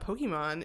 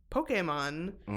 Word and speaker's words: Pokémon: I can't care because I also say it wrong cuz it's not Pokemon, it's Pokemon.